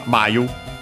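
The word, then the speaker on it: 繭: for cocoon Uh um which is actually uh Mayu uh accent on the first Mora uh actually might you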